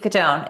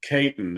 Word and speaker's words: Caton: I actually like that pronunciation. It sounds kind of gangster, but it's uh Kaitton is the is the way that it's actually said, but I like Katone better.